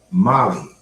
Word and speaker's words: Mali: Oh, Molly. Okay, I get what you. No, it's not. Okay, that's what was going on. It's spelled M-A-L-I, Molly.